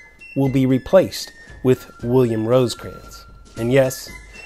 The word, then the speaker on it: Rosecrans: be replaced with William Rosecrans. And yes, it's Rosecrans, not Rosencrans like I often mispronounce, but Rosecrans.